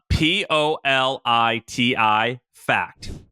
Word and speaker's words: PolitiFact: I actually don't know how you pronounce this. Uh god, everyone makes fun of me for not being able Politico? No. Uh Politi uh p o l i t i fact.